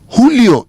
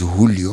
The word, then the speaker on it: Julio: Before, I knew his name was Julio, which I knew began with an H.